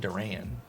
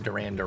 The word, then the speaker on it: Duran: Duran, actually I think he pronounces it Duran, more of the white way of saying it, Duran versus Yohan Duran. I can't roll my R's,